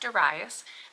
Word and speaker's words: Darius: to Asia and begged Darius sometimes pronounced daras the King of Persia